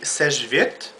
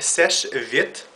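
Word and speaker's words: Seche Vite: to uh buy her the svit that's how you say it people not S V not svit not uh S V none of that nonsense it's called SES vit so yeah basically to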